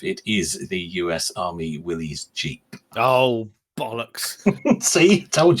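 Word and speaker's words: Willys: is the US Army Willies Jeep oh bollock see told you and it is Willies not Willis as people like to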